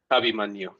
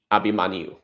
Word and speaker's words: Abhimanyu: And can you tell me how to pronounce again how Abhimanyu? Abhimanyu. Abhimanyu.